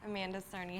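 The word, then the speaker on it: Amanda Cerny: Amanda Cernney. Hi everyone. That's how you pronounce it.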